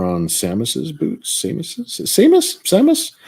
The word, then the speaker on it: Samus: samus's boots same as Samus I've heard it pronounced both ways so often it's it's Samus right yeah I know it's like samas is it samas Samus I've noticed